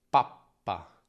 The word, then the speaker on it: pappa: Papa, pappa, pappa. Senti quella piccola pausa nel suono? Papa, pappa, pappa. In pappa la consonante è più lunga e la vocale prima è più corta, quindi si accorcia quella A.